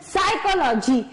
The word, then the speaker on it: psychology: Next spelling देखते हैं इसी सीरीज में, साइकोलॉजी। साइकोलॉजी की स्पेलिंग यदि आप देखते हैं तो S से शुरू होनी चाहिए, लेकिन स्पेलिंग शुरू कहां से हो रही है, P से शुरू हो रही है, PSYCHOLOGY, साइकोलॉजी।